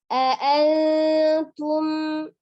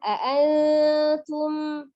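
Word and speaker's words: أنتم: Antum, ya, ada nun sukun bertemu dengan huruf ta, dibaca dengan ikfa samar mendekati huruf makhraj huruf ta, ya. Antum, ditahan. Mim sukun bertemu dengan huruf ta, dibacanya izhar. Jadi jelas.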